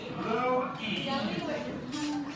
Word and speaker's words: Louis: This one doesn't look like how it's spelled. Louis. L-E-O-W-Y. L-E-O-W-Y. Love. Ooh, the ooh is the UW or just the U, depends on your book. Louie.